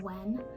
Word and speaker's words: WH3N: It talks about his journey of when he was a YouTuber.